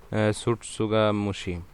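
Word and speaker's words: tsutsugamushi: আর এখানে অর্গানিজমটা কি আছে দেখো, রিকেটসি, এটা উচ্চারণটা কি হবে একটু দেখে নিও, সুটসুগামুশি। ঠিক আছে, প্রথম টি এর উচ্চারণটা হবে না, সাইলেন্ট ওয়ার্ড।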